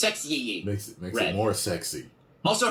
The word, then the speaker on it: Sexyy: Sexy is spelled with two Y's. I don't know what the second Y adds to the pronunciation. It's Sexyy.